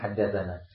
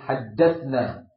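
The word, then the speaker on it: حدثنا: kekeliruan kesalahan dalam membacanya sering mengatakan haddatna itu salah haddatna yang fail berarti kita kami menyampaikan hadis ya kepada pulan haddasnahu tapi kalau haddasana kami sebagai apa maf'ul kami sebagai objek ya Barakallah an salah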